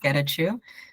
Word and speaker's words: Gachu: you're here hi yeah and you didn't that's exactly how you say it um so my name is gachu um I'm here with